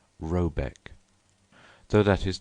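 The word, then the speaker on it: Rabaeck: a e c k pronounced something like roebek though that is not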